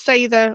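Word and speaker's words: seiðr: Yes, and then to clarify for viewers and listeners, Sather or Cedar, as I often pronounced it, obviously wrong.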